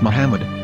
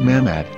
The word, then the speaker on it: Muhammad: Ben yehuda's Hebrew English dictionary it is correctly pronounced as Muhammad not mmad so how we're going to know for sure